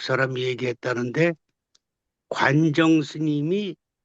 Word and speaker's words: 관정: 그다음에 그 관정스님 관정 스님인데 이제 원래 중국말로는 관증이에요. 그래 관징 스님이라 그러죠. 관징이라고도 쓰고 관정이라고도 쓰여 있죠. 헷갈리고 있는데 글자 틀린게 아니고 중국 이름으로 발음하면 관징 스님. 관징 스님이고 그걸 한국식으로 읽으면 관정 스님이에요.